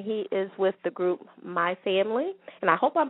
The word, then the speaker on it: MiFamLee: And did I pronounce that correctly? Yeah, that's correct. MiFamLee.